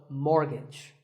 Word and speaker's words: mortgage: buy a house so which letter is silent here it's the T the first syllable is more and the second is gitch so mortgage number 27 is this